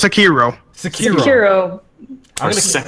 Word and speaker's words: Sekiro: How do I pronounce it? What did I say? Sekiro? Sariko. Sariko? I don't know what Sariko. that's Sariko. Sariko. It's Sekiro.